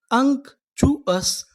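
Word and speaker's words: unctuous: अगर आपको इंग्लिश में कहीं पर टी यू ओ यू एस लिखा मिले तो हम लोग टी यू ओ यू एस को पढ़ते हैं चूस। क्या पढ़ते हैं? चूअस। तो हमारी मीनिंग क्या बनी? यू एन सी इसे पढ़ेंगे अंक। क्या पढ़ेंगे? अंक।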